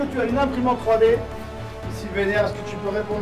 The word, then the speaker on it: Sylvainer: C'est Sylvainer, si on le dit bien comme il faut. Sylvain avec fini par ER. Sylvainer. Ok, bravo Sylvainer, tu as gagné. Est-ce que tu as une imprimante 3D? Sylvainer, est-ce que tu peux